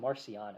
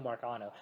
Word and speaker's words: Marcano: Which, by the way, Caden calls him Marciano. It's like, that's not how you pronounce his name. It's Ticapita Marcano.